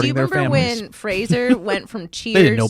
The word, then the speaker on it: Frasier: Why are you saying Fraser? I felt my brain crack a new No, crack. it's Frasier.